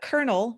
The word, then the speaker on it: colonel: So the first one is Colonel, which, by the way, I want to talk about that word real quick, but Colonel E.H.